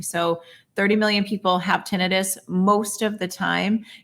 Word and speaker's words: tinnitus: different way caused by vertigo how do you pronounce that i say tinnitus you can say tinnitus but this is typically yes so how can